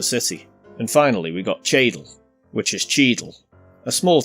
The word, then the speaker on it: Cheadle: out of the city towards Fosbrook, Dillon and Cheadle. Fosbrook refers to Forsbrook, and Dillon as Dillon. These are smaller towns and villages just outside of the city. And finally we got Cheadle, which is Cheadle, a small town with a